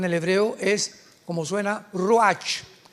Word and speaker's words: ruach: Apunta la palabra espíritu en el hebreo, es como suena ruach, R Raúl U-A-C-H, pero la CH en el hebreo se pronuncia como J, ruach.